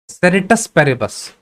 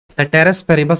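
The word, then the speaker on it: ceteris paribus: सेरेटस पेरेबस, सेटेरस पेरेबस भी बोल सकते हो, एक्चुअल स्पेलिंग तो यही होता है, यहाँ पे लिख दे रहा हूं, सेटेरस पेरेबस, सेटेरस पेरेबस। अब कोई लोग सेरेटस पेरेबस भी बोलते हैं, तो उससे तुम्हें मतलब नहीं है, इस चीज को कंसिडर करना।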